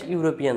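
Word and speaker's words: European: একটা লেটার ই আছে ই থাকা সত্ত্বেও এখানে কিন্তু উচ্চারণটা কেমন হয়েছে ইউরোপিয়ান ইউরোপিয়ান অর্থাৎ ইউ এর মত উচ্চারণ হয়েছে ই এর উচ্চারণ কিন্তু ইউ এর মত হয়েছে যদি আমরা নিয়মে পড়লাম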